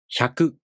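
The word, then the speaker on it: ひゃく: Let's practice pronouncing hya, hyu, hyo using some real words. Repeat with me. Hyaku.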